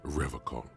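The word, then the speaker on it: Revachol: I've been tempted but he pronounces rivercon with a hard K unlike other people no no I help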